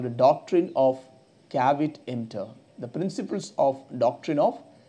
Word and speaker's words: caveat emptor: These principles are called the doctrine of caveat emptor. The principles of doctrine of caveat emptor. How do you pronounce it?